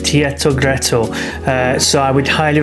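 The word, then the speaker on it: Teatro Greco: main Center Point now I think you pronounce it Tito gretto uh so I would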